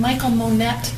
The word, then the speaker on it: Mikal Monette: And Michael Monette is how you pronounce your name? Yes.